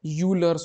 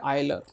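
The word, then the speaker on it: Euler: ना यूर्स ठीक है यू लर्स फॉर्म जैसे ये यूलर हो एक्चुअल में ये है आइलर ठीक है स्पेलिंग इसकी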